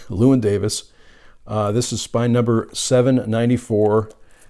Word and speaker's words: Llewyn Davis: It's Inside Llewyn Davis, and I always want to say Llewellyn Davis, but I pronounced it correctly, Llewyn Davis.